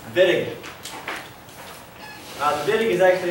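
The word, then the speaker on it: Wittig: okay miscellaneous reaction VI Germans pronounce it viig uh the viig is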